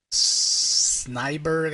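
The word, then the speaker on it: Snejbjerg: Peter J tamasi and Peter uh sber I think is how you say his name it's s NE EJ BJ r g uh obviously he's Nordic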